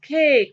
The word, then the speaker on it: cake: the letter a and here the letter or the vowel a takes the long sound cake why because we have silent e at the end we have consonant vowel